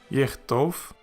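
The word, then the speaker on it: יִכְתֹּב: And then a Shewa that is followed by a Dagesh. so that would make it silent. Hence, yichtov, and it means he will write.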